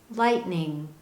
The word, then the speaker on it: lightning: the word for example this word is typically pronounced lightning lightning do you notice that you don't clearly hear a t sound at the end of the word light we don't say lightning